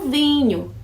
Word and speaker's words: vin: Esse fã do an, maçã aí, é o do vinho. Vin. Fã, vin. Viu só? O fã, eu sou fã de alguém. Vin. Coloca o V e você tem vinho em francês.